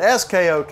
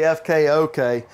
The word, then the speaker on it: FKOK: My cameraman said SKOK. I said, no, FK, front kitchen, and that's what we're in. We're in the front kitchen of the FKOK.